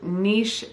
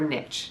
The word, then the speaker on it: niche: Number 1, and this is super important, and that is to niche down or niche, depending on how you say it.